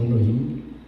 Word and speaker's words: Elohim: escrito aquí, y en hebreo es Elohim, se pronuncia como Elohim.